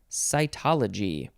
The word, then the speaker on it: cytology: Number 1, it means cell, C-E-L-L, as in the example, cytology, which I think we're going to see that tomorrow probably.